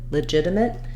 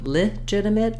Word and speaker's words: legitimate: second the sex syllable that means our first syllable is going to have a reduced vowel typically in the dictionary